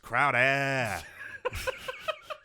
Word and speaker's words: Crowder: It's pronounced Crowder.